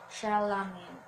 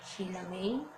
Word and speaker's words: Chalamet: Chalamet. Not Chilame. Chilame. It's not it's not actually like that. It's Chalamet.